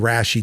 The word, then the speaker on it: Rashi: get that feeling, and Rashi does the rest. So here, let me demonstrate. Spelled like ratio-y. Yeah, it's spelled like ratio. No, but it's Rashi because you're rationalizing here.